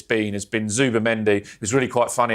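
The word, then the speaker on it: Zubimendi: It was really quite funny actually this week we saw one of the pundits mispronounce Zuba Mendy which I'm I'm very guilty of mispronouncing names but he called him Super Mendy which I think he should just accept.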